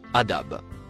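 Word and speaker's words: عذاب: Le premier mot se prononce adab.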